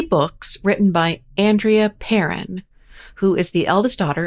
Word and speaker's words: Perron: By the way, it is pronounced Perron, not Perron, not Perron, Perron.